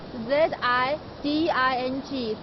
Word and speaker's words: Ziding: Ziding village is spelled Z-I-D-I-N-G, Ziding.